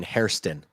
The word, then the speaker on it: Hairston: Also, you're gonna have to get working on pronunciating Hairston. Hairston. Hairston. You kept saying Harrison. Hairston. I understand Harrison. I keep wanting, but it's like Hairston.